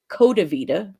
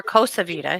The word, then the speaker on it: Costa Vida: going to some place called Coda Vida, if you were John Pryor. Or Costa Vida, he said a couple of Costa times. Vida. Yeah, he kept Yeah. saying it wrong.